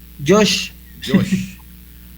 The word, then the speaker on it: Jos: para el estimado Jos, ahí me dice cómo se pronuncia. Josh. Sí. Pero ahí a la H está por ahí en otro lado. Sí, ya vio que, pero así me han dicho toda la vida, entonces así me llamo.